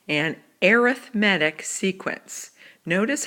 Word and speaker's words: arithmetic: If a sequence follows a pattern of adding, then it is called an arithmetic sequence. Notice how I pronounce that. Even though it's spelled like arithmetic, it's pronounced arithmetic.